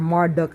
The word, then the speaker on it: Marduk: completely in key and Marduk or Marduk as some people pronounce it and the archons do